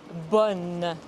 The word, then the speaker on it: bonne: Attention, ce n'est pas bon, mais bonne. Ce n'est pas une voyelle nasale.